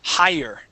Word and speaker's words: hire: So let's uh so first off this word is pronounced higher higher.